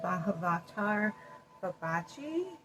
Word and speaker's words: Mahavatar Babaji: So you guys were drawn to the Mahavatar, Babaji, that's how you say it, and the Stone of Courage.